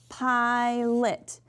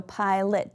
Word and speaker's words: pilot: So this vowel is long, so pilot. Now I know it looks like lot, but sometimes we mispronounce our letters, so pilot, that's more of a common way of saying it.